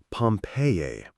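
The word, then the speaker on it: Pompeii: They pronounce it Pompei. I always had an idea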